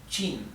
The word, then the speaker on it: Qin: La Q en el pinyin se pronuncia como una che, ¿sí?